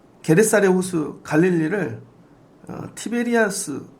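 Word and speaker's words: Tiberias: 그래서 로마가 통치하는데 이 게네사렛 호수 갈릴리를 티베리아스, 이 로마식 발음이 티베리아스예요.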